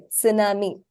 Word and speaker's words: tsunami: of T and S you're supposed to pronounce the T in the S it's not a silent that you ignore like you will in English s okay as suppose this word is familiar Tsunami Tsunami is a Japanese